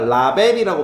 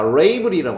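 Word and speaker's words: label: 라이브리 뭐냐면 우리가 라벨이라고 많이 들었잖아. 발음은 그게 아니라 레이블리라고 합니다.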